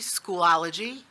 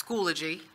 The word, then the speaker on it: Schoology: have to comment so I pronounced Schoology school ology oh so it's Schoology I believe is that correct pillaging older G okay